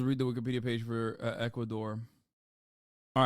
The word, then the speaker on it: Ecuador: situation here in equator is Equador am I saying see I'm saying it wrong I'm not even saying it right it's Ecuador I Amo okay it's